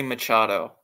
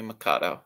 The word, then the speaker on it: Machado: players like Manny Mado it's Manny Machado not Manny makado okay it's Manny Machado